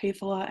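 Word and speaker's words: Häfele: I believe they're talking about Hefela and Remodel.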